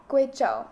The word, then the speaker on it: Guizhou: And through working with traditional artisans in, is it, I'm not exactly sure of the pronunciation, Guizhou? Guizhou.